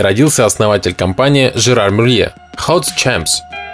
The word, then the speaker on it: Hauts Champs: Hauts Champs. Дословно «высокие поля», по-французски произносится как «Ошам».